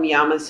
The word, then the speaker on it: llama: peru the the yamas we call them yamas in spanish two l's are pronounced like a y